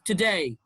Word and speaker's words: today: it's forget reply today it's not today it's today today against remind degree degree increase perhaps